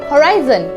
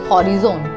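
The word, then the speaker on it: horizon: So let's begin with the first word, it's होराइजन नॉट हॉरिजोन।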